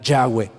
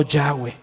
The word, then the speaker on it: Yahweh: Dios Yahweh lo escuchó así se pronuncia el nombre de Dios en el original Yahweh lo oyó Yahweh lo oyó Jehová hermano